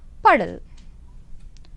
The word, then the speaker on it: puddle: we call it English puddle. Puddle. And remember children, if you have double D letters in them, but you have to pronounce as a single D.